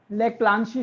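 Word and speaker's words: Leclanché: लेक्लांसी cell, LECLANCHE, spelling गलत हो सकती है बट प्रोनाउंसिएशन ठीक है मेरी।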